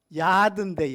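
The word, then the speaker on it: יד: 야드인데 야드, 요드. 발음만 틀려요.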